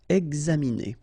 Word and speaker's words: examiner: Okay, it's interesting here because you've got this X and then you pronounce it X. Examiner.